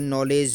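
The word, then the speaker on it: knowledge: silent रहेगा जैसे कि नॉलेज नॉलेज का मतलब के साइलेंट रहता है और नोट का मतलब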